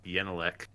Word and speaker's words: Genelec: do some testing another i met a swedish person who's pronounced yenelek that upset me what what is correct everybody else will say genelecs yeah so this one's kind of interesting all the fins i know say genelec but it's short for genius